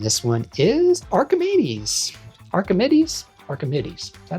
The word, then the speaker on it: Archimedes: Archimedes.